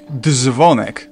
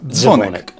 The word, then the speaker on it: dzwonek: It's not dzwonek, but dzwonek.